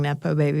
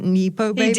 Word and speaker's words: nepo baby: better um oh God but he didn't he pronounce it nippo baby okay he's not up with the lingos um but the other